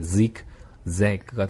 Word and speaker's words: zigzag: 그 말이 이제 zigzag가 되는데 Z-I-G까지만 네, 발음을 먼저 한번 해보면 Zig가 되겠지. Zig. 예, 그 다음에 Z-A-G가 되겠죠. 예, Z-A-G가 되니까 뒤에 나오는 건 Zag가 될 겁니다. Zag. 네, Zig-Zag. Zig-Zag.